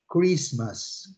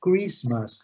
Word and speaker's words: Christmas: observem a a pronúncia Christmas Christmas Christmas Christmas letter T letter T letter T Silent not pronounced Ok do not pronounced